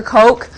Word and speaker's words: Koch: For our next one, we're going to look at a fractal that's called the, it looks like Koch, but it's either pronounced Cook or Coke.